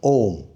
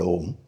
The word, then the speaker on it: Om: Which is that it consists of three syllables. Three syllables. A U and ma m Ma as m as in m A U m becomes Om.